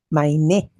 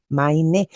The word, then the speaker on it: mein: Maine. Maine. La e i se pronuncia a my maine cuando hablo de tú taine, me refiero a tu muñeca.